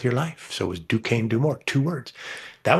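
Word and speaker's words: Duquesne: Dukane University had a problem with no one knowing how to say their name outside of Alagany and the five contiguous counties.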